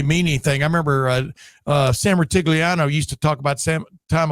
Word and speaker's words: Rutigliano: Sam, as I like to mispronounce it, Sam Rutigliano, but Sam Rutigliano was a hell of a pro football coach for several years there.